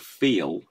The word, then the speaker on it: feel: So on the word feel, the L sound that you're hearing there is just a dark L. It isn't a syllable onto itself.